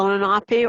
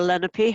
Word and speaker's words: Lenape: The Lenape or Lenape, however you want to pronounce it, were here first, and they used the rivers and the streams as highways.